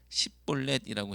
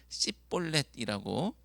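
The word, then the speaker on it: שִׁבֹּלֶת: 그래서 강을 건너려고 오는 사람들에게 쉬볼렛이라고 발음해보라고 시켜서 그대로 발음하지 못하고 성경에는 오늘 우리 가지고 있는 성경에는 십볼렛이라고 했지만 더 정확하게는 씨볼렛이라고 발음하면 그는 에브라임 사람이기 때문에 길라 사람들에게 죽임을 당하게 된 것입니다.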